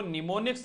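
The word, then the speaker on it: mnemonics: निर्देश लिखते हैं संरक्षण उनको निमोनिक्स बोलते ठीक है एंड साइलेंट रहता निमोनिक्स बोलते हैं ठीक है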